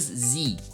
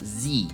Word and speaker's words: sie: Já a questão da pronúncia, repare que apesar da gente escrever com um S no começo, a gente pronuncia como se fosse, para nós que falamos português, escrito com a letra Z, ou seja, zi, não é si, e sim zi.